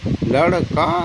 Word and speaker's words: लड़कों: तो लड़का लड़कों, नाक से आवाज़ आनी चाहिए, नासिका से कहीं कोई बिंदी लगी हुई है।